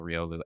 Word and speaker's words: Riolu: Am I saying Riolu right, Micah? We looked up the pronunciation finally for that.